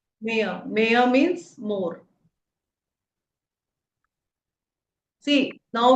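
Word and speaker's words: mehr: It's may mayor. Mayor. So we see that H is silent. No. Mayor. Mayor.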